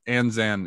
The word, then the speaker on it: Anzan: character's name uh Shifu enzam Shifu it's it's pronounced sifu oh sifu but anzan is the the name it means a large